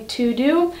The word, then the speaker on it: TeuxDeux: Today's video is gonna be on how I'm doing digital planning using TeuxDeux.